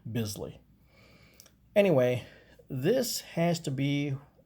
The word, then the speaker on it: Bisley: busily of old and i've also heard it pronounced beasley i don't know which one is more correct but i i pronounce it bisley anyway this has to